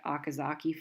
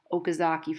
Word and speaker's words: Okazaki: fragments that are called I say akazake fragments Okazaki fragments some people pronounce it differently it's named after the